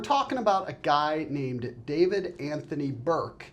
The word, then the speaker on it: D4vd: to this guy as D4 VD Anthony Burke. He he apparently goes by He says it is pronounced David, but D4VD is also an acceptable pronunciation.